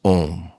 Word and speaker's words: om: or God himself and om is made of three sounds a u m but we never say we still pronounce a and u together as om so because this is how it should be pronounced and this is the